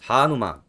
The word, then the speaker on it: Hanuman: Hanuman. Yes. Is that how I'm pronouncing it? Yes, Hanuman.